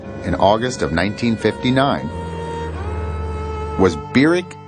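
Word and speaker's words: Barack: August of 1959 was berck Hussein Obama that's how he pronounced his name Beck he was welcomed at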